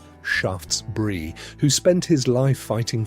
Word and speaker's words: Shaftesbury: From politicians like Lord Shaftesbury, pronounced Shaftesbury, who spent his life fighting for the rights